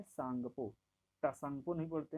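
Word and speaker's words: Tsangpo: क्या बोलेंगे, टी यहाँ साइलेंट रहता है इसलिए इसको बोलते हैं सांगपो।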